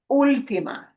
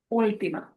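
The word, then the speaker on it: última: That the letter U in there isn't pronounced differently. There's still. It's just that we're punching the syllable more than the other three. Ultima. Ultima.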